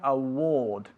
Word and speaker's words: award: Empezando con award. Ok, award se escribe pero se pronuncia award.